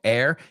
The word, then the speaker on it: heir: So heir, que se H-E-I-R, se pronuncia igual que aire.